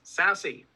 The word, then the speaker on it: SASE: at least to say and that's sassy for the unfamiliar it's actually s-a-s-e just has a cool pronunciation our goal today as